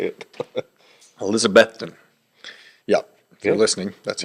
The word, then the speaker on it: Elizabethton: minute to figure out how to say it Elizabethton yeah if you're listening that's what you're saying